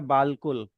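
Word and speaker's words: بالکل: Example के तौर पर हां एग्जांपल के तौर पे यहां लिखा है बाल कुल बे अलिफ लाम और कुल बट यहां पे अलिफ की साउंड ज़ेर से अ रिप्लेस हो गई तो इट बिकम्स बिल्कुल।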